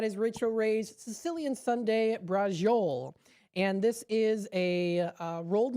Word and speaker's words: braciole: Now, thank you, Greg, for telling me how to pronounce this. It is braciole.